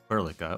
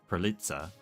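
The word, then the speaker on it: perlica: after the guinea fowl, which its name in Polish is literally plla or actually I guess uh prolitza if you pronounce it correctly.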